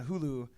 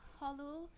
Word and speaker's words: Hulu: when they watch episode 3, but because we're on Hulu, I don't think you're pronouncing that. Hulu.